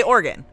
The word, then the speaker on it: Oregon: We say Oregon. Oregon. Oragan. Oregon.